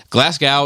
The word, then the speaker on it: Glasgow: __ ] this up glasgow is pronounced like it rhymes glass with show not like cow a little bit of